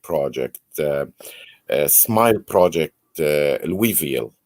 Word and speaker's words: Louisville: uh smile project uh louisville the ass is silent right so it is so people locally say louisville a lot of people outside um you know say louie oh you know louisville for people who don't